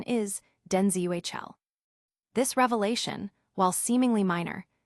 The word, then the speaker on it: Denzel: While most have long pronounced it Denzel, the actor clarified that the intended and correct pronunciation is DenzuL.